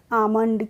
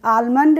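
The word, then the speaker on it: almond: पढ़ेंगे ए एल एम ओ एनडी क्या पढ़ेंगे आमंड क्या पढ़ेंगे आमंड आलमंड नहीं पढ़ते हैं इसको ठीक है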